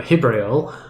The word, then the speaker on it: Jibrael: Uh Hibrael, uh with spelled with a J has now will now